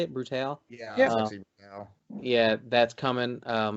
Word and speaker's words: Sexy Brutale: Sexy Brutale.